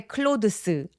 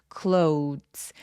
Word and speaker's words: clothes: CL 할 때 클로스 아니고요. 입 모양 봐 주세요. 우까지 입술 모양 입술 쭉배기 cles 저 th는 울림이 있는 소리라서 우리 영어에 a b c d에 d와 비슷한 느낌으로 발음하시면 훨씬 더 자연스러워요. Nice cles. Nice cles라고 마치 뒤에 ts가 있는 것처럼 스펠링대로 발음하 되지 않아요. 영어는 cles cles 요런 식으로 소리 내시면 정확합니다.